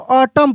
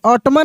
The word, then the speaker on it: autumn: उसके बाद रहता है AUTUMN, तो इसको हम लोग ऑटम पढ़ते हैं, ऑटम, ऐसे, ऑटमन नहीं, ऑटम।